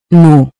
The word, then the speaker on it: nous: Then for we use nous. It is used when referring to a group that includes yourself and others. Say it with me. Nous. Nous. Remember, the S is silent, unless followed by a vowel.